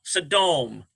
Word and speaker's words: Sodom: Sodom. That's how that's pronounced.